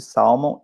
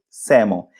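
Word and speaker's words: salmon: grátis é de salmão em inglês você não pronuncia o Hélio você fala Simon Green Gold Lemon eu vejo muita gente falar salmão não existe Salmo e se você dizer Salmo eles não vão entender Ok Grid Samu e também não diga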